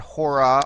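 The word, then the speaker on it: ὥρα: You see here that it's accentuated, forget the breathing mark for a second, it's accentuated on the first syllable, the omega, hora.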